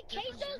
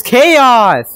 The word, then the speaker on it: Chaos: Wait, Queso's VR? Dude, my name's not Queso. It's Chaos. It's Chaos. It shouldn't be that hard to pronounce.